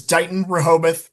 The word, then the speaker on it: Dighton Rehoboth: And how do you how do you pronounce your district name? Yeah. Uh our district is Don Rahobath Regional School District.